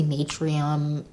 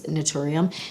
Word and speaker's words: Naturium: I always say Natrium, Naturium. I've said it 1,000 different ways. I think it's Naturium.